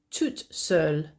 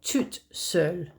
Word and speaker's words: toute seule: Uh and if you're a female, it would be toute seule. So notice how the spelling is different, but also the pronunciation is different. So je suis ici tout seul or toute seule.